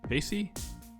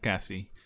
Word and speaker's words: Cassie: Casey? No, I'm pretty sure it's pronounced Cassie.